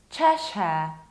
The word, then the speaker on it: Cheshire: Cheshire sounds very similar to Polish Czeshe, like Czeshe sobie włoski, but you have much softer ch. Not Czeshe, but Cheshire.